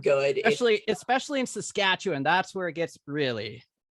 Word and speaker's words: Saskatchewan: I finally know how to say it yeah Saskatchewan yes that's Saskatchewan okay I like it it pronounces it badly well uh yeah saskatchew no